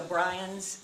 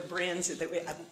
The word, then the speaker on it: Bryans: well, the effect of the arbitration was that it bound the Bryans and I know it's called the Brins. I've been told that you pronounce it Bryans, but there's also Fred